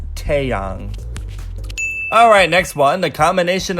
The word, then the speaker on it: Taeyang: before with this one I've heard many people say Taeyang and I nearly fell over the a and many languages has an ah sound therefore it's Taeyang alright next one the